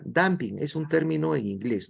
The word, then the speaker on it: dumping: el tamping no sé se escribe dumping pero se pronuncia damping Es un término en